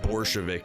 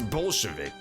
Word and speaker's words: Bolshevik: that into english so i'm guessing it's just like pronounced borshevik in japanese so they thought it was supposed to be bore but it's bolshevik it's bolshevik i tell